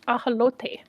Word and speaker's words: ajolote: Also, I think that people would have much less problems if they just pronounced it the way that Spanish speakers pronounce it in Mexico, and that's ajolote.